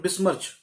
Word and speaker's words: besmirch: बिस्मर्च word का नाम है, वर्ड का मतलब प्रोनाउंसिएशन है बिस्मर्च।